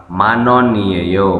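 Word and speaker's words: 만원: berapa harganya lalu dijawab manono Man 10.000 Won satuannya Manon ya cara bacanya Manon kemudian nomor 3 mu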